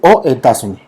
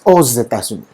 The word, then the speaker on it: États-Unis: Si yo no puedo decir aux États-Unis, es aux États-Unis. Ok, hacemos una alianza fonética que permite precisamente entender cómo se pronuncia este país.